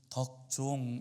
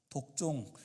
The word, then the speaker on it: 덕종: 어 제가 태어났을 때에 저도 어 하나님 앞에서 참 덕스러운 어 종이 되기를 원하셔서 제 이름을 덕종 이렇게 지어 주셨어요. 학창 시절 때에는 아이들이 발음을 잘못해 가지고 독종 뭐 이렇게에 부르는 아이들도 있긴 하였습니다만는 어 그 이름대로 살려고 하는 그 마음이 아직도 저에게에 많이 있습니다.